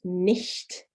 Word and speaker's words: nicht: The word for not is nicht, nicht. So you've got the sh in there as well. So that's a soft sh sound. So again, ich and nicht.